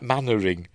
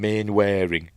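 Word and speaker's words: Mainwaring: It's one of those weird Englishy names isn't it that is spelled different into how it um sounds like mannering. How do you get mannering from main wearing anyway?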